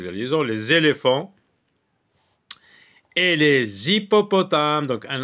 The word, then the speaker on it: hippopotames: oui là c'est la liaison les éléphants et les hyppopotames donc un H mué les hyppopotames donc on